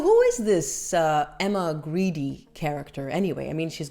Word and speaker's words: Grede: And based on what I've learned on this Emma Greedy Greedy character, and yes, apparently that's how you pronounce it.